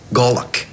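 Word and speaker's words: golok: gollock in the military it's called a golock g o l o k pronounced gollock yes but you're not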